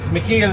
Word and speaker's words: Michael: Michael, we call him Mackil is how you say it in Dutch. That's how his name is pronounced. But we call him Michael cuz it's a little